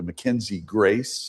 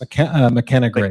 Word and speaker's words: McKenna Grace: McKenzie Grace, McKenna Grace, McKenna, I'm sorry, McKenna Grace and Jojo Regina.